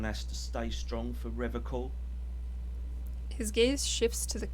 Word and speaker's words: Revachol: You said Revachol. I like to pronounce it the hard way. The old way. The Vespertine way.